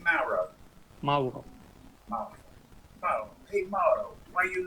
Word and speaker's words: Mauro: Mauro.